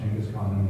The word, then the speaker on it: Genghis Khan: You see Genghis Khan, that's how it's pronounced, Genghis Khan International Airport.